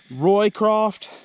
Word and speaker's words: Roycroft: me a quickie uh Roycroft pack frame Tom Roycroft r-o-y-c-r-a-f-t Roy craft it's spelled like but it's Tom Roycroft I made me a